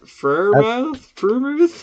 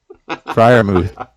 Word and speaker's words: Freiermuth: Pat Freiermuth? No. Freiermuth. Did you misspell it on purpose?